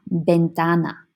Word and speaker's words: ventana: To vent a room, you open la ventana. La ventana. Remember that a V at the beginning sounds like a B.